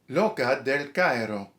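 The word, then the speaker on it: L'oca del Cairo: Loca del Cairo.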